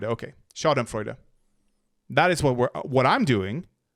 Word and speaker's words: Schadenfreude: Schadenfreude, and how do you pronounce that? Schadenfreude. It is Freude, okay. Schadenfreude.